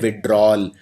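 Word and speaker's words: withdrawal: तो यहां पे याद रखिए, इसको लिखते हैं विड्रॉवल, लेकिन बोलते हैं विड्रॉल। तो ये वाला जो A है ये बोलने में आता नहीं है, लेकिन ये आएगा, स्पेलिंग के अंदर आएगा।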